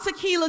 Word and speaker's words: Tequila: that's right um i'm tequila johnson yes it's pronounced like the liquor but a little bit